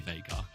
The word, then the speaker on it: Veigar: Yeah, Veigar, another one. Oh, yeah. Veigar, sorry. Every time. It's the American pronunciation versus the English pronunciation. But it's an American game, so I should just say Veigar.